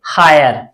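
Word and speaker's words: hire: आय पढ़ते हैं, आय, एच आई आर ई, एच से लिखेंगे ह, आई से आ की मात्रा और ए, और आर से र, लास्ट में ई साइलेंट रहेगी, तो इसे हम क्या पढ़ेंगे, हायर।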